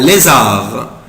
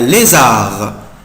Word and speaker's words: lézard: un lézard, un lézard, un lézard, un lézard. Ici je ne prononce pas la lettre D, mais je بنطق حرف D. un lézard, un lézard, un lézard, un lézard, un lézard, un lézard, un lézard.